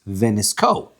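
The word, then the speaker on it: ונסכה: Rabbi Elazar says, Ksiv veniska, says in the female form, right? Pasuk says that it's written veniska with the word hey. Vikarinon, but the word is pronounced venisko.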